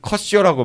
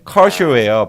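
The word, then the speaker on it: Kershaw: 근데 이제 중계하시는 분들 보면 컷쇼라고 많이 발음하시더라고요. 근데 그게 컷쇼가 아니고 그분 이름이 그냥 커쇼예요, 발음이. 그래서 커쇼라고 하는 게 맞을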